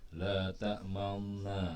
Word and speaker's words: لا تأمنا: La ta manna ya, atau setengah dari atau seperempat dari huruf nun berbunyi dikit, la ta'manuna, la ta'manuna, tapi nunnya enggak ketara, la ta'manuna, enggak, la ta'manuna gitu, atau la ta'manna ya.